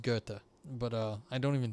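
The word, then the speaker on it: Goethe: that one impact like i used to call them goth before i knew it was gurta but uh i don't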